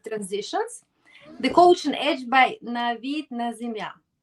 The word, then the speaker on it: Navid Nazemian: So I call it Mastering Executive Transitions, the Coaching Edge by Navid Nazemian, right? Did That's I correct.